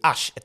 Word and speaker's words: he: Le H est très important ici. On dit pas he mais he. OK.